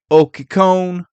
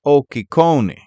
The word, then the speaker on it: Occhicone: The name is originally Italian, and people with that last name in Italy mostly pronounce it as Occhicone. But it seems when they came to America, it was changed to Occhicone.